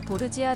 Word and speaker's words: Borgia: 될 것이라고 예언을 합니다 루크레치아 보르자 는 루크레치아 보르지아 라고도 발음 하는데 국내에서는 시오노 나나미가 증